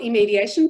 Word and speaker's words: iMediation: um a platform called imediation am i pronouncing that correctly we we call it immediation but a lot of